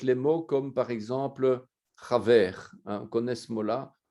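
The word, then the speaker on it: חבר: masculin, de la racine chaver, chaber, hein, puisque c'est la lettre bet, chet, bet, resh, la racine, hein, mais il n'y a pas de dagesh, donc on prononce chaver.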